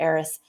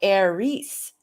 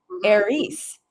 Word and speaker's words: Aries: you're interested in understanding the heiress which i have now learned it it's supposed to be aries if we were gonna if we were gonna pronounce it correctly aries okay well you know it's the origin of eric and aaron okay you know any aaron's or eric's they tend to be you know that i'm doing the celtic pronouncing but yes you do the greek yes it's aries yeah we are i people